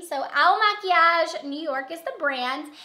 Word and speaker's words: Il Makiage: on YouTube and find videos on how to pronounce it because it's kind of a long in a weird name so owl maquillage New York is the brand and this is